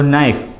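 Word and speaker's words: knife: pronunciation होता है honest, ऐसे हम नाइफ, ठीक है, तो नाइफ, तो वहाँ पे भी के साइलेंट होता है लेकिन हम बोलते हैं नाइफ एन से, मतलब न से हमारा प्रोनाउंसिएशन स्टार्ट होता है, राइट, तो बिफोर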